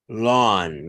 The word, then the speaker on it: lawn: Remember, the A with the W sound, oh, lawn. Get off my lawn. And it's a big long pronunciation, lawn.